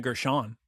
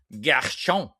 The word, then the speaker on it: Gershon: Yeah, I believe it's pronounced Gina Gershon. Gershon.